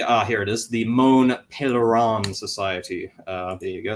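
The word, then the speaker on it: Mont Pelerin: on to the uh here it is the moan pan Society uh there you go that's how you pronounce it uh which was founded in 47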